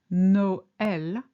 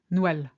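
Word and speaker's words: Noël: single sound for instance in Noel which is Christmas the tra over the signals that the O and the are pronounced separately as no l rather than a d thong which would be Nel similarly in MA it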